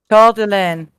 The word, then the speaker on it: Coeur d'Alene: Coeur d'Alene. All right. Yep. That's how you pronounce it.